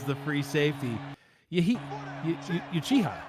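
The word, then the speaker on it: Uchiha: The corners Rick Itachi Yuchi. I don't know if I'm saying that one right. That is exactly how you say it. Trey Deuce is the free safety. Yeah, he you chiha, right?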